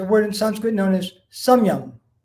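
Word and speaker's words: samyama: in sanskrit known as samyang s-a-m long a and y-a-m-a last day is pretty much silent and that means regulated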